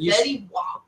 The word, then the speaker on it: Fetty Wap: Fetty Wap. But it's spelled WAP though.